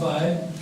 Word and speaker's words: Weill: O Kurt Weill, quando chegou à América, os americanos não pronunciam Weill, pronunciam Weil, não pronunciam Wagner, pronunciam Wagner, e quando uma pessoa lhe chamava, o Sr. Weill, então o tipo não respondia, o Sr. Weill, estou a falar consigo, eu não sou Weill, sou Weil, não é?